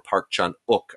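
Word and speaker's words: Park Chan-wook: of is the uh park chan wook or park chun uk i'm told is the correct pronunciation this film jsa for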